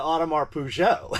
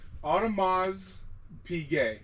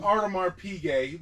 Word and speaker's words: Audemars Piguet: I was going to say, I always call it Audemars Peugeot. How do you actually pronounce it? And so if the actual pronunciation is Audemars Piguet or Puiguet. Does he say it that way? No, I call it know. Audemars Piguet. That's like the American, like Porsche.